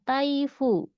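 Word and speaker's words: 台風: Kanji angin dia juga bisa dibaca fu ya. Di sini contohnya adalah taifu. Taifu topan dari situ ya.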